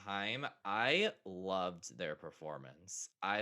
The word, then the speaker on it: Haim: They really kind of blew up, and I always forget how to pronounce it, but I think it's Haim or Haim when they performed. Time, yeah. Yeah, Haim.